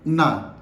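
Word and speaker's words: நான்: इसको हम तमिल में बोलते हैं ना। ओके? लिखते हैं नाम बट बोलते हैं ना।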